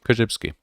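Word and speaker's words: Korzybski: b s k i just like it sounds koshibsky um yes oh check him out and i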